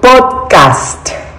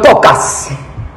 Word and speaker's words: podcast: Se dice podcast. No pocas.